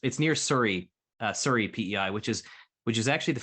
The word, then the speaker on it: Souris: It's near Surrey, PEI, which is actually the French word souris, like for mouse, or SOURIS, but I've been corrected many times that's pronounced Surrey in PEI.